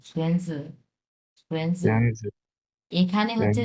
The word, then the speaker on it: 孙子: বড়, 孙 হ্যাঁ 子， সুয়েনজু, সুয়েনজু। 孙子， এখানে হচ্ছে 孙， এই যে সু, এটা উচ্চারণ হবে সুয়েন, সুয়েন এটা উচ্চারণ হবে সুয়েনজু।